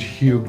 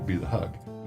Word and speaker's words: HEUG: Because HEUG didn't sound right. I said, just drop the E, and we'll just be the HEUG. As soon as people heard us pronouncing it HEUG, it was fine from then on.